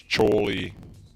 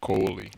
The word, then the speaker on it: Choli: It's Choli, not Coli. Yeah, like the E. coli, like the disease.